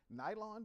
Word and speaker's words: Guyland: I am Guyland. You want to know how to say my name? Guyland, but with a G.